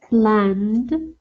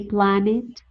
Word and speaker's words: planned: Concerned, planned, asked. Yes, we don't say ask it, we don't say plan it, concern it, happen it, no.